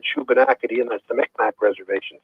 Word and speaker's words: Shubenacadie: I can't even begin to pronounce it. SHUBENACADIE. Yeah, the Shubenacadie Reserve. The Shubenacadie Reserve. Yeah. Okay. Short for Shuby.